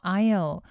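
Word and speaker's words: aisle: 캐나 헤아 bios 3 통로 좌석 얘기 하실 때요 아요 s 가 묵음 이 줘 아 이거 발음 주의 하시구요 cea 좌 성 이란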